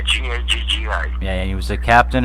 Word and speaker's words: Gaggi: Am I pronouncing it right? Is it Gaji? Yeah, Gaggi.